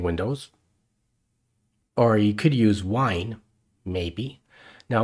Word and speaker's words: Wine: use wine maybe now wine is a program that's available in most Linux distributions and it stands for wine while it's spelled and pronounced the same way as the stuff you drink but it stands for